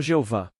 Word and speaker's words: Jeová: Esta palavra é simplesmente Yod-He-Vav-He, que pronunciamos como Jeová.